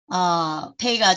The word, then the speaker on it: פ: 이게 페이인데 안에 점이 있을 때는 P 발음이고요. 안에 점이 없고 그냥 페이일 때는 그러니까 알레프 지금 요 밑에 알레프가 나오는데 알레프 할 때 끝에 점이 없이 나오니까 끝에 나올 경우는 보통 F 사운드예요.